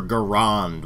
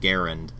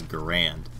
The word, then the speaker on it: Garand: bit nitpicky but there's one particular character who says use your Garand when the actual pronunciation is Garand and the slightly less egregious pronunciation is Gand I don't know where they got garon use your CH to